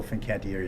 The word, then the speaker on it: Fincantieri: friends from Genoa Italy Finn Qatari fincantieri Fincantieri through an extra syllable in there thank you and I'm